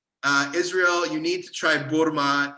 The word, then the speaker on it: burma: First of all, I think the single food that I miss the most is something called burma, like spelled like the country, B-U-R-M-A. And it's like, imagine baklava, but round, like almost like a hot dog.